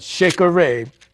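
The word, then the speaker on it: shekere: is this this is uh a Shaker Ray uh the way every we say it here in the States but in Cuba they call it you know so they spelled it c-h-e-k-e-r-e but we spell it over here s-h-e-k-e-r-e and and it's a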